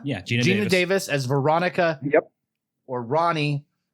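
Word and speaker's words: Geena Davis: Gina? Yeah, Gina Davis as Veronica.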